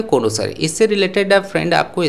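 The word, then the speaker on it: connoisseur: Pronunciation है कोनोसर, इससे related अब फ्रेंड आपको स्पेलिंग एरर भी मिल सकता है।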